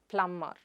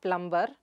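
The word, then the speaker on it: plumber: The next word is plum-er. It is not plum-ber, but plum-er. How do you pronounce that? Plum-er. The /b/ sound is silent there.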